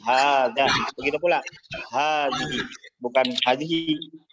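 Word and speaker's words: هذا: Tapi di sini untuk hada hadhihi maka dibaca panjang 2 harakat. Jadi hada. Jadi bukan hada tapi hada.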